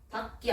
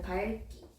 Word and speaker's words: 밝기: 기억으로 발음되지만 예외적으로 기억 앞에서 리을로 발음합니다. 그래서 읽고 맑게 밝기 아니고 밝기.